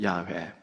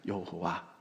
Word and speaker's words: 야훼: 야훼. 근데 우리나라는 야훼 발음이 잘 안 되니까 여호와 이렇게 불렀지요.